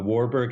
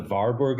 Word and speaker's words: Warburg: I tend just for pronunciation's sake and for clarif for disambiguation to say varborg when I refer to the man and warberg when I refer to the institute.